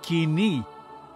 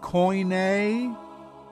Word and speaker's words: koine: Kini, kini, not koine or kune.